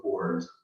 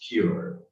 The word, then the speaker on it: pure: you say you look poor, that would be super rude to say so, right? But yeah, so don't make this mistake. And this word is actually pronounced pure, pure. So it sounds much classy, pure.